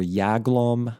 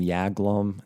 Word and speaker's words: Jaglom: j glome or yaglam i'm going to call him yaglum just kind of makes more sense why would let me let me look at how this dude's name is spelled um let's see here j a yeah okay here we go henry i was right henry j a g l o m jaglom i think it's more yagulom it's probably a jewish